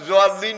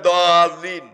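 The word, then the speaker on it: ضالين: আর যদি হাদিসে হয়, তাফসিরে হয়, ওহিতে না হয়, তাহলে আপনি দোয়াল্লিন পড়লেও সারবে, জোয়াল্লিন পড়লেও সারবে, কিন্তু কোরআনের উচ্চারণ জোয়াল্লিন নয়, দোয়াল্লিন।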